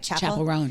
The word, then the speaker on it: Chappell Roan: Chappell Roan, yeah.